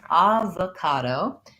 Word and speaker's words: avocado: tricky words so ah we actually don't say that o as an o so avocado has first syllable stress vowel ah at first and then this o is gonna say schwa sounds like uh and then another ah ca do so clear vowels on the a's these all three of